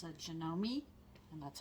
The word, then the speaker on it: Janome: It's a Janome, and that's how it's pronounced, Janome Memory Craft.